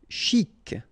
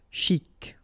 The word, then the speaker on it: chic: Chic. Okay, you pronounce the final C. And then CH together. Sh. Chic.